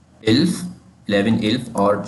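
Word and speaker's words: elf: 11 हमारे पास है इल्फ। इल्फ 11 इल्फ और जो 12 है 12 है ज़ोल्फ।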